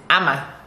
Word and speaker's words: Ama: My name is Ama. Ama. A-M-A. Or, some people actually do A-double-M-A. Ama. Ama. So, and if you were born on, I was born on a Saturday. Saturday born, Ama.